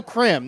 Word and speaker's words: Krim: Antonio Krim, not Grimes.